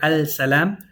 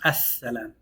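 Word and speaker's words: السلام: Again, you're never going to hear al-salam. It's going to be pronounced as-salam.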